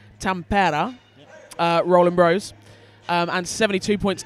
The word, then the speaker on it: Tampere: 38 points to, as we've just discovered, the correctly pronounced Tampere, Rollin Bros, and 72 points to Power of Scotland, who now, God blimey, are down to 9 players.